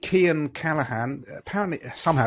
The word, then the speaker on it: Cian: The next one is from a chap called Cian Callahan. Apparently, somehow it's spelled with a C-I-A-N.